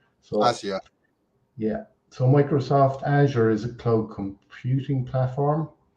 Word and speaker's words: Azure: aure um some people the way you pronounce the Paul there is azure the Amer the americ it's h we we asked a few kind of experts in Microsoft and they call it Azure so AA yeah so